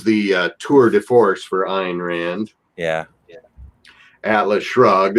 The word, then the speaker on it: Ayn Rand: Am I pronouncing that correctly? Ayn Rand was, Ayn Rand.